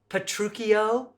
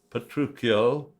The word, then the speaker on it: Petruchio: the correct pronunciations are petruchio Romeo and Juliet count those syllables two syllables for Romeo two syllables for Juliet's and three syllables for petruchio you'll find the longer